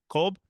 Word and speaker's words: Kolb: David Cobb or Kolb? How do you Cool. Kolb? Mhm. I've seen it. I've seen his name a million times, and okay, great. Now I know.